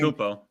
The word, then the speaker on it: Antetokounmpo: You know, I'm not going to do Giannis, Anton, how he pronounces his last name. Antetokounmpo.